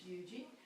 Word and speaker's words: Huger: genuine South Carolinian if you know how to pronounce that correctly is Yuji so the Secretary of State buried their minister